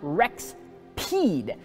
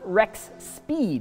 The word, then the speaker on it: Rexpeed: wreck speed products now it's pronounced Rex peed not Rex speed which I is quite the tongue twister for me but this is a